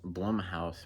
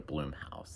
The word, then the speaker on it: Blumhouse: Blu-ray collection um i' I never know if it's pronounced Blum House or Bloom house I'm I'm pretty sure it's Bloom house only more towards Bloom house anyways but yeah I'm